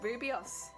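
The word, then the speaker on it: rooibos: It's best just to listen to her pronounce it. Rubios.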